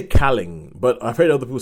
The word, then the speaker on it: Kaling: I always say Calling, but I've heard other people say Kaling like Mindy Kaling. Kaling. It means why you see that? Because But she's Tamil and Kaling doesn't sound like a Tamil pronunciation.